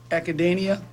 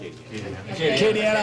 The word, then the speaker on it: Acadiana: airfield, which would be the Academia, I think's the name, or how you say it? Regional Airport, south of Lafayette. Acadiana, I'm sorry.